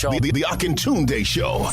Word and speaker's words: Akintunde: The Akintunde Show. Spell it. A-K-I-N Tunde. Oh, yeah.